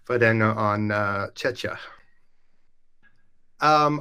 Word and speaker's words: Czechia: And thank you for the correct pronunciation, Vladena, on Czechia.